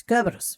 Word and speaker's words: Cerberus: But Kerberos is a Latin word, and in Latin you pronounce the C as a K. So it's Kerberos.